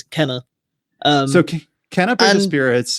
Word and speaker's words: Kena: get to talk about is it kana or kina or do we know i actually uh i had a brilliant experience five seconds ago i was like i'm going to google how to pronounce it because otherwise i'll be saying it's keema the whole time it is kenner um so okay cannabis